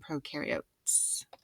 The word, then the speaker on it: prokaryotes: set go here again eukaryotes much more complex you rhymes with do and new because they do have a nucleus pro rhymes with no there's no nucleus and prokaryotes all right so microscopes